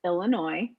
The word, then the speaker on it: Illinois: One, it's Illinois. The S is silent. S on the end.